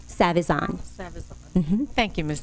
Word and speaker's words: Savizon: I'll spell it for you. It's SAVIZON. Savion? Savazan.